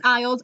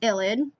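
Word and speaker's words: ylide: part of the illid rosemary has finally taught me how to say it i always called it an ielts i don't know why but it's like an illid so when you see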